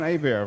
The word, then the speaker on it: Hebert: And then to my right is Hebert. Have I pronounced that correctly? Yes, you did, sir. Yes. I thought so. Hebert I know because it's spelled the Cajun way.